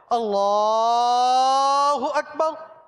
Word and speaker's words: اللہ اکبر: نظر نہیں آئیں گے، صحیح تلفظ کے ساتھ جو امامت کرواتے ہیں وہ لام کو ہی کھینچتے ہیں، اللہ اکبر، اسی طرح کی تکبیر